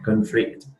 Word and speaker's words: conflict: about our difficult situation conflict a challenge you face in the workplace yeah conflicts conflict Kenya conflict conflict yeah you need to stress on the first syllable not the second one okay yeah not conflict but